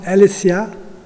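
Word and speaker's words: ἀλήθεια: écrits et en grec le mot vérité se prononce alessia veut dire sortir de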